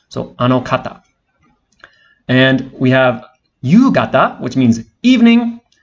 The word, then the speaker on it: ゆうがた: And we have ゆうがた, which means evening. And again, the pronunciation changes from ka to ga.